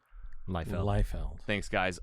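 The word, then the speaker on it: Liefeld: say his last name lield leld thanks guys I always say lefeld it's not that's not what it is if you're one of those and you're like me it's say it again lield lield what a go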